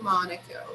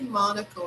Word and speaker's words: Monaco: thing to do in Monaco. You can say Monaco, right? You don't need to say Monaco like they said in the film, but Monaco is okay too, right?